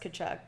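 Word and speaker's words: Tkachuk: chuck what a name starts with a T but it's pronounced could chuck crazy he had a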